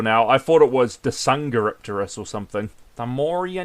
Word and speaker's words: Dsungaripterus: A pterosaur that looks incredibly difficult to pronounce until you realize that the D is silent. That's actually quite easy, I think. Like the D, P in pterosaur. Yeah, the D and the P are both silent, so it's Dsungaripterus.